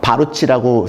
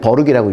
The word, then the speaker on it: Baruch: 그래서 쿠니 중에 저는 그 BARUCH라고 씁니다. 바루치라고 쓰는데 버룩이라고 읽는데 그 학교를 목표로 하는 거를 저는 추천을 드려요.